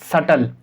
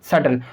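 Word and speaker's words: subtle: आपके पास B, तो यहाँ पर B का साइलेंट नहीं होगा, तो हम इसे क्या पढ़ेंगे? सटल। हम इसको क्या पढ़ेंगे? सटल।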